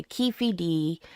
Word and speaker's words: Keffe D: doesn't mean it's pronounced Keffy. It appears to be a phonetic nickname closer to Kei D.